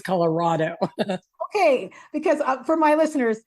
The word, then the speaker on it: Colorado: For me, it's Colorado. So that sounded like raw to me as opposed to... It was raw. Okay. Miles Cortez put it perfect on your Facebook. For me, it's Colorado.